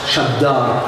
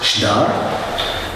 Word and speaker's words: shaddar: So how do I know that shaddar is pronounced shaddar and not pronounced shdar? Because the root is never attested in the G stem.